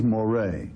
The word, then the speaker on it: Moreh: But Moreh, and this is the proper pronunciation, quite frankly, in Latin for Murray is Moreh, all right?